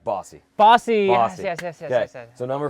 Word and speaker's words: Bossy: Rhymes with saucy. Saucy. Mike Bossy.